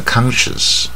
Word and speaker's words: conscience: 啊，这个它本来这边 S-C-I-N-C 是 science，可是念到这边就 sense，就不是 science，就是 sense。